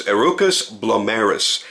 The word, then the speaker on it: Herucus Blomerus: the purpose of this video his name is arukas blis and you'll have to refer to the spelling